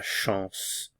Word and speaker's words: chance: Avoir de la chance. Avoir de la chance. Notice the pronunciation. Sh. This is nasalized. And then s. Chance.